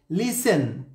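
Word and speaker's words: listen: silent letter, যেমন সফেন এখানে টি silent letter, লিসেন টি silent letter, often টি silent letter, ফাসেন টি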